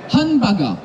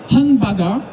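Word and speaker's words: ハンバーガー: Quand il y a un tiré, vous l'ignorez. C'est juste une façon de le prononcer, mais pour vous, c'est pas important. Hanba, et ça, c'est Ga. Hanbaga. Hanbaga.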